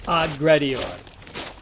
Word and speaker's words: aggredior: Everywhere else, it sounds like two G's, as in our pronunciation of the word leg guard.